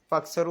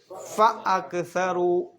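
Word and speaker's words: فَأَكْثَرُوا: ശ്രദ്ധിക്കാനുള്ളത് ഫ കഴിഞ്ഞിട്ട് അ നിർബന്ധമായിട്ട് ഉച്ചരിക്കണം ഫക്സറു എന്നൊന്നും ഓതാൻ പാടില്ല അപ്പ ഫ അക്സറു ഫ അക്സറു അങ്ങനെ തന്നെ ഓതണം ഫസറ ഫീഹൽ ഫസാദ് അവിടെ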